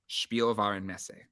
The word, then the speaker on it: Spielwarenmesse: do you pronounce it is spiel Varin Messi spielvarenesse that's how you pronounce it that's part of like that's why